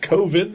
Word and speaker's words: Coven: Because he doesn't like Coven because it sounds like oven.